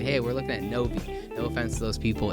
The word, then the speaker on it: Novi: to Michigan they say hey we're looking at Novi no offense to those people it's Novi Michigan is how we pronounce it we have a lot of weird